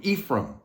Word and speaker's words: Ephraim: comes through Joseph through Ephraim Ephraim Ephraim is how they say it it's the ephraimites